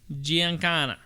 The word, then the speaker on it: Giancana: I guarantee it's Italian. Giancana. Yeah, Giancana.